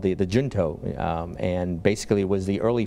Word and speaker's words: Junto: who come together, have their own Shinto, is that how it's pronounced? Junto. Junto. Junto, yeah.